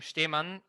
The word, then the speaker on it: Stemann: Yeah, last name Stemann, for those of you who don't know how to pronounce German names. The S is a sh.